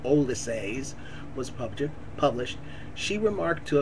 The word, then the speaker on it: Ulysses: Shortly after Ulysses, Joyce pronounced it Olysses, was published, she remarked